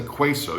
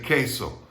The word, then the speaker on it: queso: the u is silent every time you see a u in spanish after a q it is always silent like in the spanish word you may know this one queso you don't say queso you say queso or